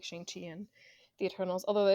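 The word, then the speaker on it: Shang-Chi: kind of mcu people that are like like shanxi and the eternals although the eternal is like shangji that's the correct pronunciation i i apologize tweets showing us how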